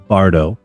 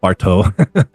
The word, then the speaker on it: Bardo: You say Robert Bard, Robert Bardau, not BTO.